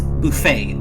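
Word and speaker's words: Buffay: one I think the the pronunciation might actually help a little bit better it's Buffet all right either of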